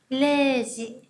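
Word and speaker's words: 零時: Và không giờ chúng ta sẽ không đọc là Zero gì mà chúng ta sẽ đọc là Leji. Leji nhá.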